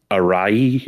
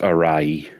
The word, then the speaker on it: Arawi: was penned by Keiichi, I believe the family name is pronounced Arai. It uses like a not commonly used hiragana anymore, so so it's written Arawi, but I believe it's pronounced Arai.